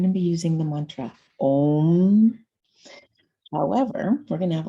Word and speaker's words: Om: So the sound of Om actually is not meant to vibrate the front of the mouth and the lips like English. It's the tongue touches the roof of the mouth. In Kundalini, it's spelled O-N-G instead of O-M.